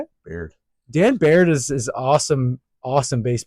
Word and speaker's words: Baird: Baird.